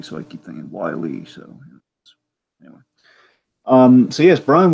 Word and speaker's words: Wylie: wonderful Brian Wylie yeah I keep assuming it's pronounced like wily coyote so I keep thinking wily so um see yes